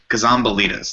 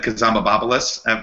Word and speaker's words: Kazambalides: Kazambalides, that's how you say it. Kazambalides. Yeah, we all said Kazambabopoulos at first, or Cosmopolitus. Not correct.